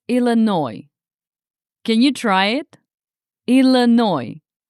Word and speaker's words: Illinois: So now we have Illinois with a silent s. Don't say Illinois. It's Illinois.